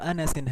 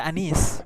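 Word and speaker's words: أنس: Ad-darrajatu Anasin hadhihi. Anasin ini kalau misalkan kita tidak ada harokatnya seperti ini jangan bingung Om ya. Ini bacanya tetap Anas. Jangan dibaca Anis.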